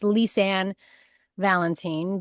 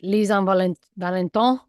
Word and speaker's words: Lisann Valentin: happy to be here today and it's just pronounced lisan Valentine but you know you can pronounce it leisan Val valenton valenton that's what it was yeah sounds cool